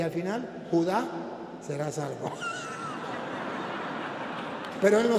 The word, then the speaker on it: Judá: No es Judas, es Judá.